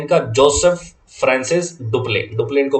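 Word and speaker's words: Dupleix: डुप्ले इनको pronounce करते हैं।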